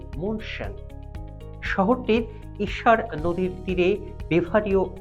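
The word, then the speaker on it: München: জার্মানির বায়ান রাজ্যের রাজধানী জার্মান ভাষায় শহরটির নামের উচ্চারণ মনশান শহরটির ঈশার নদীর তীরে বেভারিও আলস এর উত্তরে অবস্থিত।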